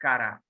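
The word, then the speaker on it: קרא: this one he called how you will pronounce in Hebrew who will recognize the alphabet and who is it yes yes right you are right Kara so this is Kara means called okay now you are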